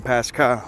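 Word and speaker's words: πάσχα: This is the Greek word Pasca or Pasra, however it's pronounced. Pronunciation Pasca.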